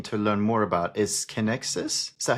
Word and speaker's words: Kinexys: Well, one of the products uh that I'm really keen to learn more about is Kexus. Is that how you pronounce it? Yes, Kexus.